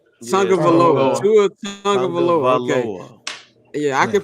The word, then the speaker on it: Tagovailoa: Tua Tagovailoa. Okay. Yeah, I can pronounce Giannis' last name, but this nigga name I be fucking up all the time.